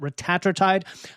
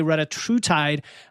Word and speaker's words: retatrutide: And by the way, pronunciation can go both ways. Eli Lilly and their CEO call it retatrutide. A lot of people say retatrutide, like semaglutide, because of some linguistic, you know, rules, let's say.